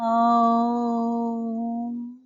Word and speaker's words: ㄡ: ㄡ 的發音需要在最後加上一個 ㄨ 音 But the pronunciation of ㄡ requires a ㄨ sound at the end ㄡ ou ㄡ ou 再看第三組容易混淆的發音 ㄜ